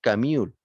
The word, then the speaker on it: Camus: murió de tuberculosis pobre se escribe albert camus pero se pronuncia en francés camión camión albert camión filósofo